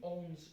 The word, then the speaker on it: orange: I believe it should be orange because A and N together becomes on. So the pronunciation should be orange, I suppose. Fine. Like ranger, on, like that.